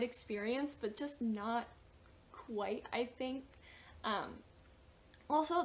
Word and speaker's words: non: for example to say no in French it is spelled n-o-n but you don't pronounce the last n so it's like and